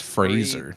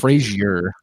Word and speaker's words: Fraser: Gotta say it right. It's Fraser, not He's a good Frazier. Fraser. Fraser. It's Razor with an F.